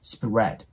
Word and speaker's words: spread: 始めてあげるとラリルレロという音になりこれがね R の音に近くなるので先ほどのスっていうのとスプレていう感じでね発音してもらうとえより綺麗に聞こえるかなと思いますで最後の D